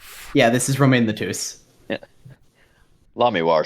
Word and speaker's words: Lamiroir: It is not Lemrar, it is Lamiroir.